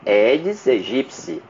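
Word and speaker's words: Aedes aegypti: é o aeds egipci que é a pronúncia correta edes egipci Já ensinei isso já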